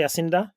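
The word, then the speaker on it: Jacinda: Yasinda is correct pronunciation of your prime minister.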